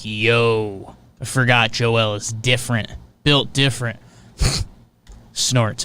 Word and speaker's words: Joel: up joel embiid is it joel do you pronounce the l i feel like we were it's not joel so yeah joelle yeah yeah i think if you if you